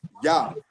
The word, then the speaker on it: Yah: The consonant H is closing the first syllable and is not the first sound of a new syllable. That's what I was saying about the Yah, and then it stops. There's no Yah, or it doesn't prolong on.